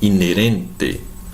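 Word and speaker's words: inherente: Mas como é no espanhol, o H não é pronunciado. Então, inerente.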